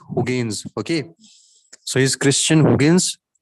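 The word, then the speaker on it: Huygens: name was christian gaines it's been pronounced as hogans okay so is christian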